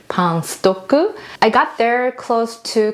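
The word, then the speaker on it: パンストック: It's actually a pang stock, but then Japanese pronunciation Pang-stoku.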